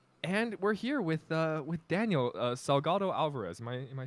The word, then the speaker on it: Salgado-Alvarez: And we're here with Daniel Salgado-Alvarez.